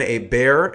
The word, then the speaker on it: Hebert: Krebs he's co-founder of natural Stacks with Ben a bear and that is the proper pronunciation natural Stacks creates open-source dietary supplements for